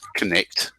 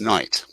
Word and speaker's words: knight: like this for instance is a knight it's not connect it's night it's a silent k quite a few words